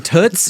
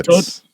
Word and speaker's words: Toots: Oh, but apparently it's Did you hear people call them tootss? Yeah. Yeah. Yeah. Rhyming with foot and not boots, right? Like hey tootss.